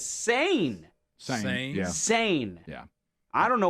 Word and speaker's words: Seine: reason on my Google it was on British pronunciation, and that was S-E-N. But now I click right here and go American pronunciation. It says sane.